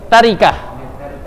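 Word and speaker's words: تركة: Tarikah. Itu bacanya tarikah.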